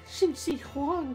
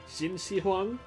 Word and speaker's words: Qin Shi Huang: my previous part still i keep pronouncing it hana was the one who corrected me saying it was shin shi huang i mean you'll notice